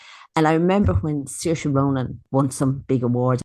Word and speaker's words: Saoirse: If you can say sear and you can say sha, you can say Saoirse.